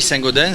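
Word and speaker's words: Saint-Gaudens: êtes de saint gobain on dit saint gaudens ça s'écrit avec un s il ya eu une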